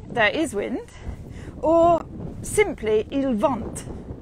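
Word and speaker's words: il vente: wind uh iliad there is wind or simply ilvant it's winding i quite like that so i'm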